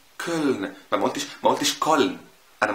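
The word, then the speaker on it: Köln: او مدينه كولن، كولن. ما قلتش كولن، انا ما قلتش كولن، خد بالك انا بقول كولن. حصل ايه بقى؟ حصل انه اتكسر شويه وبقى فرنساوي شويه.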